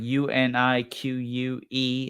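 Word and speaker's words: Unique': with the brand unique or unique it's like u n i q u e and then it has an apostrophe for uh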